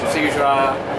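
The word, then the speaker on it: Timișoara: Yeah, okay, Timisoara.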